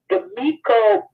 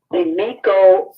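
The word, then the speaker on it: Demico: Demiko Booth.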